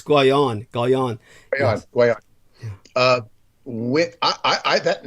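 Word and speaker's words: Guénon: I was always tempted to say that, but it's Guion.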